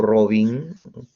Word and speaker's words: Robin: Y Robin o Robin, tal como suena, Robin, R-O-B-I-N. Birkhoff-Robin lo dicen usualmente, pero la pronunciación es Birkhoff-Robin.